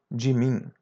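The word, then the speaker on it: mim: As you see the M which is in the final is pronounced as a light N. Jim.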